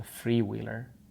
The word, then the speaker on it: Freewheeler: The 3-wheel ones, which is called a Freewheeler. I'm not pronouncing the number 3 as free. It's a Freewheeler. Free!